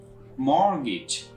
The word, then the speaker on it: mortgage: another word for you that is called mortgage mortgage here talk sound assignment so you can pronounce the dual word line mortgage in the